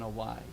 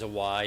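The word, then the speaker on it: wye: and so it's basically, you can visualize a Y, even though it's spelled W-Y-E.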